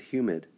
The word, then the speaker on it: humid: write on this thing my rule is i remember that it's two syllables and hu is Hugh even though it looks like hum and what I'm saying is if you look at humid the beginning it looks